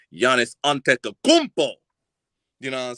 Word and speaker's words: Antetokounmpo: his his whole name right but I can pronounce it correctly Giannis antetokounmpo you know what I'm saying what is it